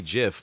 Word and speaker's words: GIF: GIF. Okay. He was So like, it's then- supposed to be GIF, but the whole world just calls it a GIF, and that's what it's pronounced as.